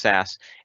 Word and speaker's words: SCSS: theme development we're using SAS scss it's generally pronounced SAS and that that gets